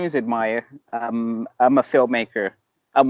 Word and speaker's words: Admire: name is I'm gonna have a hard time pronouncing your name oh it's just admire my is in English it's an English Lincoln